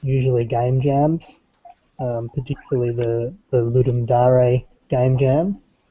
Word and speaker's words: Ludum Dare: But the other half of the time, it's usually game jams, particularly the Ludum Dare game jam, or Ludum Dare. Yeah, people like to pronounce the Latin.